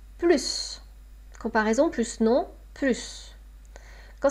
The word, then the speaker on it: plus: Donc là, mémorisez que dans la situation d'une négation ne plus, on ne prononce pas le S. Je n'en veux plus. Je n'en veux plus. J'ai assez mangé, je n'en veux plus.